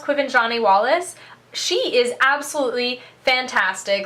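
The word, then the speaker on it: Quvenzhané Wallis: The little girl who plays Annie, who I'm pretty sure her name is pronounced Quiven Wallace, she is absolutely fantastic.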